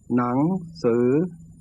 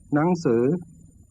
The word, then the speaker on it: หนังสือ: หนังสือ And there is a high tone pronunciation used in faster natural speech. หนังสือ Pronouns and particles are often in this category.